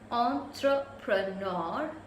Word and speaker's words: entrepreneur: So entrepreneur, and it's stressed with the second N, so preneur.